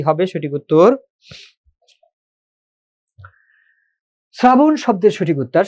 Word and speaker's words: শ্রাবণ: শ্রাবণ শব্দের সঠিক উত্তর, শুরুতে যদি রফলা থাকে, আমরা জানি তালব্য স অথবা দন্ত স এর সাথে যদি রফলা যুক্ত থাকে, তাহলে রফলার কারণে ওই স এর উচ্চারণটা হয় স এর মতো।